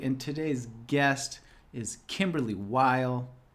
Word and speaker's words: Weil: Jeremy Goldberg, and today's guest is Kymberlee Weil. Rhymes with smile.